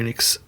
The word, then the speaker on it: Enix: Speaking of people who I wish would shut down, Square Enix.